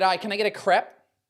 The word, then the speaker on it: crepe: can I get a crep it's ambiguous so that's why they call it a crepe as if it was spelled c r a y p uh Muna coconut